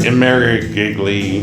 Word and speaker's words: Imerovigli: Imerovigli.